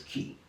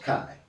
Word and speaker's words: chi: that's that's key key the X which looks like an X in the Greek alphabet is key often mispronounced Kai CH hii is key and uh it it represents the phonetic sound of the letter c as in car not face yeah I mean so